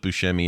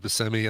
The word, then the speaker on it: Buscemi: whole verse about Steve Buscemi, and then I looked at his Wikipedia page, and one of the first, like it's in his intro thing, it says pronounced Buscemi.